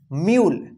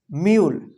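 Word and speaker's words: mule: अब देखिए यहां पे लास्ट में ई है और इससे पहले यू आया तो यू का यू का यू उच्चारण होगा और इ का कोई उच्चारण नहीं होगा दो उच्चारण उ या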